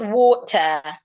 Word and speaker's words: water: In the word water. The letter A there sounds O. Water.